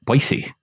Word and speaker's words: Boise: Boise State you know you said it wrong the first time and that makes people from Boise mad did I say Boise yeah you can't go Boise oh you can't just as II ok boise boise boise boise then